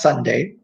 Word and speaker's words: sundae: forms of ice cream sundae so this is pronounced Sunday today Monday Tuesday Wednesday